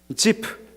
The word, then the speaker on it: Ziph: 것들을 극복할 수 있는데, 원래 히브리어가요 영어 그대로 지프입니다. 지프. 한번 따라해 볼까요? 지프.